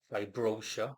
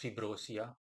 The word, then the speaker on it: Fibroshia: Um the angel's name is Fibrosia, Vibrosia in English, but flatly his name is simply pronounced Fibrosia. Um alternatives are Fibrosia or Vrosia or Fabrosia, you name it.